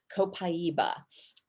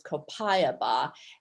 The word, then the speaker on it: copaiba: doterra has which is called copaiba you'll also hear it referred to as copayaba and a few variations on that pronunciation lots of people struggle